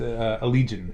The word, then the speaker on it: Allegaeon: No, it's actually a lot easier than you. It's Allegion.